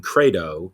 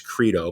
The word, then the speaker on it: credo: And the word, and from the Latin credo, or we would say in English credo, both are accurate pronunciations.